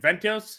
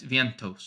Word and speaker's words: Vientos: Ventios? Vientos? Vientos.